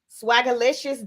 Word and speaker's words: Swagalicious: What does it Swagalicious rhyme with? Swagalicious, delicious. Delicious, yeah.